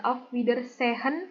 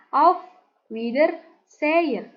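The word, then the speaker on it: Auf Wiedersehen: Yang kedua ada ofer saying cara bacanya jangan of wither sehen tapi of wither say yaitu sampai ketemu kembali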